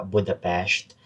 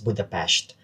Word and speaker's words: Budapest: Kakarating lang namin here sa Budapest after So sabi nung um Uber driver namin, the way you pronounce it daw is Budapest. Hindi siya Budapest. Budapest whatever.